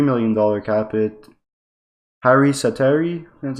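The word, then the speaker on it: Harri Säteri: Harry Sateri, that's how you say his name, a 1-year, $650,000 a year, for 1 year, sorry.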